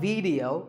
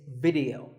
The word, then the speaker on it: video: watching right now video the important thing is that both the I and the e are pronounced as short if sounds it's not video it's video if you watch a